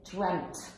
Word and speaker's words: dreamt: regular but in english pronunciation the brits we pronounce it are you ready dreamt no way no way yeah i always said